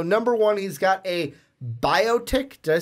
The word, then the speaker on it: Biotic: So number one, he's got a Biotic. Did I say that right? Biotic launcher? Yep, Biotic. Or a Bionic? No, not Bionic. It's Biotic.